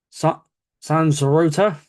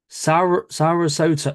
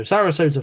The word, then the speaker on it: Sarasota: They are from the place of San Sorota. I'm going to try and say this again, so it's Sarasota. Sorry, I said it wrong the first time. So Sarasota, Florida.